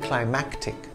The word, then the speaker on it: climactic: his fans climatic and climactic the latter has a hard c sound before the t climactic the former does not climatic climatic is an